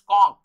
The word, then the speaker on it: conch: तो ये आप देख रहे हैं कि इसमें, वैसे उसको भी ले सकते हैं CONCH, ये आपको बहुत लोग कॉन्च कहते हैं, but basically it is pronounced कॉन्क, तो इसमें भी आप एस लगा दीजिए, शंख को कहते हैं।